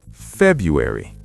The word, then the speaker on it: February: The first R is often silent in American English. It's pronounced February. February. No R? Some people pronounce the R, but most Americans say February.